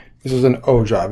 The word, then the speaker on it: ogive: So this is called an ogive, or pronounced O-J-I-V-E. This is an ogive.